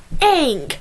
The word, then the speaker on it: Aang: Okay, just like it is Aang, not Ong, or Sokka, not Soka.